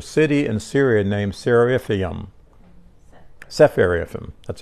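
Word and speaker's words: Sepharvaim: name there's a city in Syria named sfum sepharim that's how it pronounced s c p h a r v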